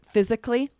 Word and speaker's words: physically: The next one is physically. I'm running every day to say physically fit. And every now and then we'll hear someone say physically, but rarely, right? It takes longer. It's harder to say. So we usually change this to 3 syllables. Change it to 3.